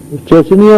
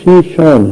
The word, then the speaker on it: شیشان: ریاست تھی اسلامی شیشان جسے وہ چچنیاں لکھتے پڑھتے ہیں انگریزی میں چنیا اس کا اصل تلفظ نہیں ہے اصل تلفظ شیشان ہے اسلامی ریاست تھی کسی